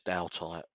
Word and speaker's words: Daltite: makes sense i mean some some people pronounce it wrong who cares it is whatever you want it to be but it is dow type wasn't there another question